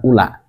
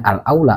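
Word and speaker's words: أولى: alaula yang paling utama jadi ini bukan Ula Kenapa dibacanya alaula bukan Ula karena memang tidak ada ee siakul kalam setelah Al Ula ini tidak ada kalimat wasani tidak ada ya kalau ada wasani pasti Al Ula dibacanya Sedangkan ini alaula termasuk dari eh Afal tafdil Alula Liman yaqul fatihata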